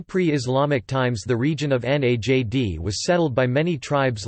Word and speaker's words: Najd: Najd or Najd Arabic, Enj pronounced Nad-D, is a geographical central region of Saudi Arabia